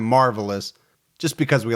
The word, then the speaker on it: Marvallous: Now, his name's actually pronounced Marvales, but Gibby and I have decided that for the whole episode, we're going to call him Marvelous just because we like it better.